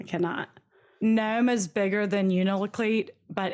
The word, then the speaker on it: Unalakleet: was born in 1984 and grew up in Unalakleet, Alaska. I sure Googled about that. Yeah. I Googled how to pronounce a bunch of stuff in this. So I spelled it out phonetically next to it. Unalakleet.